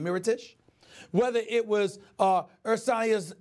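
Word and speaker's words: Mirotić: Brook Lopez whether it's Moreau dish here dish rather I'm sorry I'm know why he mispronounced his name Mira Tisch whether it was earth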